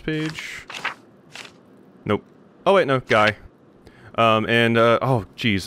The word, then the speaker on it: Guy: name is pronounced G the Y here is pronounced as in at the end of lately G interesting I would